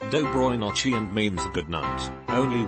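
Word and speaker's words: Доброй ночи: harrowing conversation, and I said L, which is pronounced Dobroy Nochi and means good night.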